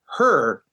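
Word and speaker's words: H.E.R.: So I Can't Breathe by Her. It's written as capital H period, capital E period, capital R period, but my understanding is it's pronounced Her.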